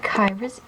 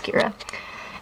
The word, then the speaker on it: Kira: So these are Rollerblade Kyra's earrings, or Kira. I've always pronounced it Kyra. I know it's Kira.